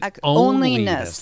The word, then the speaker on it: onlyness: You said onlyness. like O-N-L-Y. Right. Onlyness. Okay. Yep. Rhymes with loneliness.